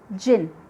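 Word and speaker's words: djinn: Here D is silent, it is pronounced as jinn.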